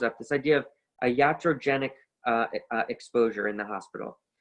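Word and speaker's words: iatrogenic: again it comes from there's different ways of pronouncing it in english a lot of people pronounce it uh iatrogenesis but in reality the physician in ancient greece and antiquity was called ayatros so the physician the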